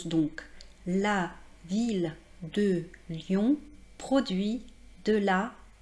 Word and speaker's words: ville: nous très intéressant : on ne dit pas \vij\ \də\ \ljɔ̃\ \pʁɔ.dɥi\ \də\ \la\ \swa\ on dit \la\ \vil\ \də\ \ljɔ̃\ \pʁɔ.dɥi\ \də\ \la\ \swa\ Alors vous allez me dire : mais madame vous nous avez dit que i + 2 l formait le son [j] Hé bien voici une exception !